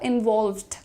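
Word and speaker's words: involved: इनवॉल्व्ड। इनवॉल्व्ड एल और वी का blending है यहां पर।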